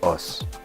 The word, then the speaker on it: osu: prononciament parce qu'en fait ça se dit os parce que en japonais on le prononce pas les U donc en quoi en